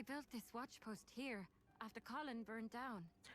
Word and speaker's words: Colin: Oh, it's Colin. I've been calling it Colehen the entire time. I need to remember that's like for a few years the way I expect it to be pronounced.